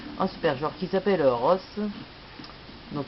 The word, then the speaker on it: Rose: super joueur qui s'appelle rose donc ça s'écrit comme rose mais ça se prononce pas pareil donc équipe de Chicago